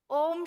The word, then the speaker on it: ओम: ओम शब्द के अंदर 3 अक्षर है, अ, उ और म। ओम को कहा गया यूनिवर्सल वर्ड है, यूनिवर्सल ध्वनि है। इंग्लिश में भी इसीलिए कहते हैं ओम यानी AUM।